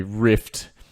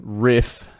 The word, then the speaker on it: riff: use so every time you would say rift rather than riff ri double f i would i kind